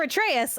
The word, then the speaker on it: Atreus: a tr god now for atreus i literally write a t-r-a-y us and when i read